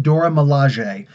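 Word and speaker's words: Dora Milaje: door Malaysia in the comics only spend it's pronounced Dora Malaysia they actually sounded out in the comic books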